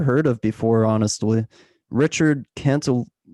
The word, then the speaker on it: Cantillon: But specifically in your latest macro letter, you mentioned who I've never heard of before, honestly, Richard Cantillon. Did I pronounce it correctly? Cantillon. Cantillon. Yeah.